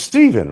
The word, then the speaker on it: Stephen: But it's still pronounced Steven, right? Then why did they spell it Stephen instead of Stefan?